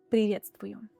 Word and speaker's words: приветствую: The first one is приветствую. Not привет, but приветствую.